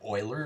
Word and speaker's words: Euler: Leonhard Euler is how you say his name, but it was his number that he kind of discovered here, and it's pretty profound.